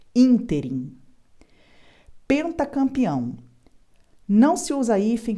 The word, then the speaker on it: ínterim: única grafia correta no ínterim palavra proparoxítona por isso ela é acentuada Lembrando que todas as proparoxítonas são acentuadas neste ínterim Essa é a forma correta de pronunciar essa palavra proparoxítona com acento ínterim pentacampeão não se usa